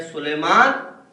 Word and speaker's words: سلیمان: تلفظ میں بعض اوقات ہم غلطی کرتے ہیں. سلیمان اس نبی کا نام ہے جن کو ہواؤں پہ بھی اختیار تھا, جن کو چرند پرند کی زبان بھی آتی تھی.